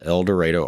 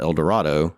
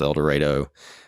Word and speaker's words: El Dorado: from so I am from a town called elor Arkansas which is funny because it's you know spelled Eldorado n AR most people think it's El Dorado